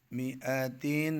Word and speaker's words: مائة: مئة सुनना का नहीं, जो अलिफ है ना ये साइलेंट है. मिआतिन सलासमिआतिन सुनना करें ना.